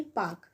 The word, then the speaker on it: Palk: पाक, यानी कि PALK।